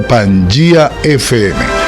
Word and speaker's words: Pangea FM: su teléfono celular colocar pangea fm así se escribe se pronuncia pan efe o también puede vernos